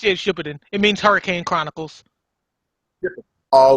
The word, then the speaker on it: Shippuden: The was it Shippenden? How you pronounce it? Shippenden. I think it's pronounced Shippuden.